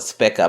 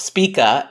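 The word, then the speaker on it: Spica: fixed star Spa I like to call it spika but Spa is the right way to pronounce it which is a star of rewards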